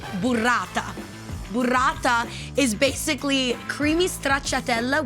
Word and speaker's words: burrata: It's pronounced burrata.